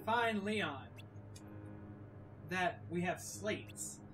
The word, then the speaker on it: Sleight: But, we will learn when we find Leon that we have slates. Some people pronounce it slide, as in sleight of hand, slates. Because it's a card. Slates. Or slide.